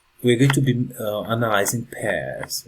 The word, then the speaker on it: pai: One thing that happens with the English language is the p sound is more aspirated.